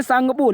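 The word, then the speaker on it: Tsangpo: English में नाम है tasangpo ठीक है इसको वैसे तो कहते हैं संगपुर लेकिन जो इसका टी होता है ये साइलेंट होता है तो इसकी मीनिंग इस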